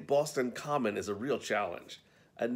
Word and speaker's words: Boston Common: they seem to know the rules the name Boston Common is a real challenge and native explained that the right pronunciation is and this is a bit of a tongue twister Boston clammin and let's not even get into the Massachusetts